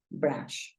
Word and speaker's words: brush: para peinarnos entonces mira Brush Acuérdate que la u la estamos pronunciando como una a Entonces si tú dices